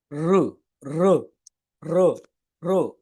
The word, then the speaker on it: ऋ: உச்சரிக்கக்கூடாது ரு அப்படின்னும் உச்சரிக்கக்கூடாது இந்த ரெண்டு எழுத்துக்களுக்கும் இடையில ஒரு சவுண்ட் இருக்குது ரிக்கும் ருக்கும் இடையில அதான் ரு ரு ரு ரு அப்படின்ற சவுண்டுல தான் இந்த எழுத்தை உச்சரிக்கணும் இதை வார்த்தைகள்ல வரும்போது எப்படி